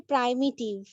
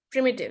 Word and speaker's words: প্রিমিটিভ: হ্যাঁ ম্যাম, এখানে একটা ওয়ার্ড রয়েছে প্রাইমিটিভ। আচ্ছা, এইটা প্রিমিটিভ। হ্যাঁ। এটার এটার আমি যে ওয়ার্ড গুলো যাচ্ছে আমি হাইলাইট করে দিচ্ছি। তো এইটার প্রোনাউন্সিয়েশন হচ্ছে প্রিমিটিভ, ঠিক আছে?